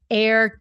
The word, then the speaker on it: err: helps with pronunciation but it's air just like the kind you breathe air okay got thank you